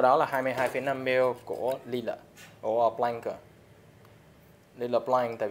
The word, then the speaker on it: Lillet: Một là gin, hai là lila, nó đọc là lila chứ không phải lilac.